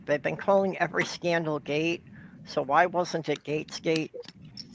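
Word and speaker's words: Gaetz: I believe Well, the this is- pronunciation is Gates. Yeah, it's Gates, like a gate, you know?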